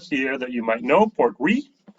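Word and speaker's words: Portree: A Talisker here that you might know, Port Ree. I know it's spelled differently, but it's R-E-E, actually how it's pronounced, Port Ree.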